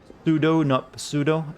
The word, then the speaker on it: pseudo: that it reminds me it's pronounced sudo i know but i like pseudo better i consider the p silent see i can make